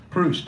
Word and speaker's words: Proust: Proust, thank you.